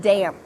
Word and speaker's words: damp: Make sure that you say a clear P sound at the end of this word. I dropped my towel in the water and now it's damp.